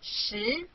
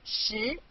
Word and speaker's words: 十: This is its syllable, 十. Repeat after me, 十. 十.